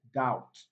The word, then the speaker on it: doubt: the sound option b doubt doubt let's be silent option c subtle subtle